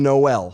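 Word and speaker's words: Jkmn: the name is enunciated noel because just like in the alphabet it goes j k l m n there is no l hence the spelling is j k m n for the name noel i'm gonna punch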